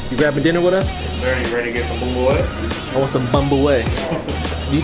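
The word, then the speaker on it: bún bò Huế: I heard they got the best bumbleway, or bun boo hoo, if you're a noob like me, but it's actually pronounced bumbleway.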